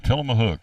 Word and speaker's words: Tillamook: Tillamook. I didn't know that's how you pronounced that ice cream.